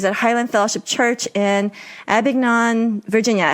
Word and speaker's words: Abingdon: So Daniel is the campus pastor at Elizabethan Campus and director of adult ministries at Highland Fellowship Church in Abingdon, Virginia. How do you pronounce that?